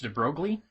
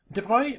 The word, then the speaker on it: de Broglie: with louis de bruy i always thought his name was pronounced de broglie but it's well he's french so there's all sorts of weird pronunciations in french is my best guess at how it would probably be pronounced devoi proposed that matter could